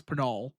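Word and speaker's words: Pinal: Do you say it penol or penol? Penol. I say penol. Yeah. No, I I I actually work with people from penol county every day and I just have never I I realize I've been saying it wrong every time. Yeah, it's penol.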